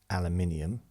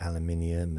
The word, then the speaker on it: aluminium: I mean, we clearly pronounce things differently, like aluminium, aluminum. We call it aluminium, and we say roof, not roof, because then what would the dogs do?